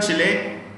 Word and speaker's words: Chile: E का last pronunciation, E जो है लास्ट में, the E is pronounced with an A sound.